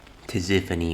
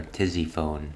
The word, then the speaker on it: Tisiphone: Tisiphone was her name. Here I've been calling her Tizzyphone this entire time.